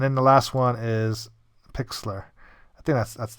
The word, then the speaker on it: Pixlr: thumbnail creation and then the last one is Pixlr I think that's that's how you say it